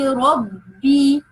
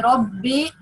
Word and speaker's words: رَبِّ: That means if the letter with kasra, if we have a letter with kasra, we have to pronounce it with a real kasra. لِلَّهِ رَبِّ not لِلَّهِ رَبِّ.